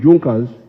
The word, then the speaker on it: Junkers: It is written Junkers, but they pronounce it Junkers, that saw the importance of a united German market.